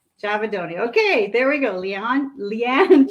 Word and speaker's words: Giavedoni: Giavedoni. Giavedoni.